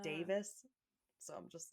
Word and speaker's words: Davies: the Taskmaster guy, but it's spelled like Davies. But when he says it, he's also Welsh, and he says it sounds more like Davis.